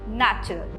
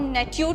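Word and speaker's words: nature: नेचुरल आता है नेचर से। एन ए टी यू आर ई। अब हम नेच्यूर तो नहीं पढ़ेंगे। करेक्ट है। हम नेच्यूर तो नहीं पढ़ेंगे। हम नेचर पढ़ते हैं।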